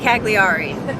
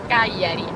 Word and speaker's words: Cagliari: We pronounce it Cagliari. Now she's gonna pronounce it properly. Cagliari.